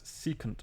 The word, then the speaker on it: secant: Sec, you should pronounce this as secant of theta.